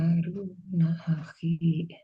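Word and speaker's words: هَارُونَ أَخِي: Oh, U-nya di Haruna akhi. Haruna Aki. Akhi gitu. Oh, Aki. Haruna Aki. Ru-nya jangan runna, tapi runa. Panjang ru-nya.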